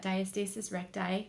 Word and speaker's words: diastasis recti: I thought oh my gosh I have that diastasis recti that's how you say it right that's how